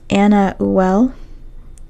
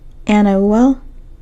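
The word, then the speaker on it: Anauel: up the pronunciation and apparently the pronunciation is Anna well Anna well um and as far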